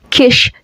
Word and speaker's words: Kish: Kish that rhymes with fish.